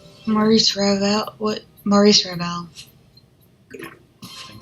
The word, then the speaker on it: Maurice Ravel: Jean-Jacques Rousseau, Georges Bizet, Maurice Ravel. No fucking clue, and I probably butchered all those French names. No, Marie- it's Maurice Ravel.